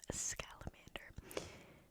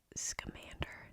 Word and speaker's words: Scamander: We're gonna start with the about the author Newton New Artis Vo Scalamander. I just realized his name is Scamander. This whole time I pronounced it scalamander. Like a salamander.